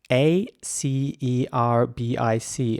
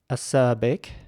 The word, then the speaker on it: acerbic: his British English acerbic acerbic acerbic and acerbic in American English the r always gets pronounced a little bit harder in my opinion uh you know in British English it's quite soft in my opinion acerbic